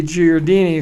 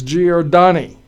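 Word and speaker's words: Giordani: will Jon Jon sorry I always mispronounce his last name thank you my producer just corrected me it's G or donni and Rocky is a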